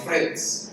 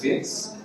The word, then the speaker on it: Fitz: I try to say my name as often as possible because most people call me Fritz. I think that's a more common name, but I don't have a letter R, so it's just Fitz.